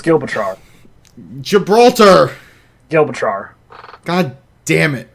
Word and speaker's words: Gibraltar: And I didn't have it in front of me, so it's Gibraltar.